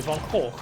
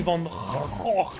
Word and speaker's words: Van Gogh: Sorry, want me to pronounce it the proper Dutch way, Van Gogh. Want me to pronounce it with a hard G, Van Gogh.